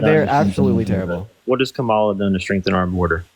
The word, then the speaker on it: Kamala: She tried to influence that bipartisan border bill, and then third of all, her name is pronounced Kamala.